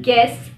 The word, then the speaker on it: guess: The letter U is silent when it comes after a G at the beginning of the word. For example, guess, guide.